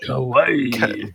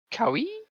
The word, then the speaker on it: kawaii: Kawaii. kawaii? Kawaii? You just call it scary? Actually, that's kawaii. Creepy cute. Kawaii. There's no second I in kawaii. Cowie? That's not how you say it.